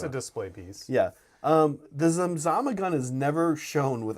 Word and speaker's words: Zamzama: It starts with a Z. It's spelled Z-A-M-Z-A-M-A. Zamzama.